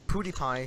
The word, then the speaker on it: PewDiePie: But you know, like that, like because that reminds me, like you know, PewDiePie's recent video, Pewdiepie, he actually confirmed he pronounced it Pewdiepie.